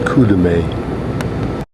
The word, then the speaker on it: Kurume: Notice that's pronounced Kurume.